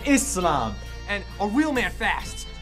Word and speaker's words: Islam: It's pronounced Islam, not Islam, but Islam.